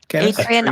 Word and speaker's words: Etrian: Etrian Odyssey. You spell it Etrian.